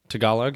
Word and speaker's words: Tagalog: Tagalog, is that how you say it? Tagalog, yeah.